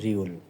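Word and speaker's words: 리을: গিয়ে আবার নিচে চলে ডানে এসে এটা হলো উচ্চারণ হবে রিউল এবার বক্সের মতন যে বর্ণটা দেখতে পাচ্ছেন এটা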